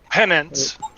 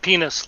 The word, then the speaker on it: Penance: operation size that bind penance that's the way it's pronounced pennants pendants not penis like some other people oh